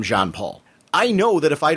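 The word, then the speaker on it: Jean-Paul: with john paul i had pronounced him for years gene paul when i was younger that i got so fixated on that it was it's still very hard for me to call him john paul i know that if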